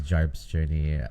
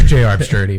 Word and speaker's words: JR's Journey: Also known as Jarp's Journey on Instagram. Yeah, I might have pronounced that wrong as well. That you did. It's JR's Journey, but that's okay. JR's, okay. Initial for the first name.